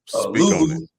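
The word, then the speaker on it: Luvu: That's how you pronounce it. Louvu.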